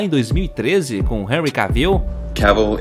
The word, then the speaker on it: Cavill: Cavill is pronounced like travel. Travel. Cavill.